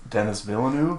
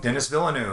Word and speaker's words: Denis Villeneuve: dune my uh oh no i could never pronounce his name dennis villeneux dennis villeneuve who did uh prisoners in sicario on the